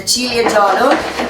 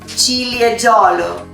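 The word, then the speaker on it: Ciliegiolo: We made 20% of cherry grape, the Cilieggiolo. Repeat with me, Cilieggiolo. Right. Julia, is it correct? Everybody's saying it right? Cilieggiolo.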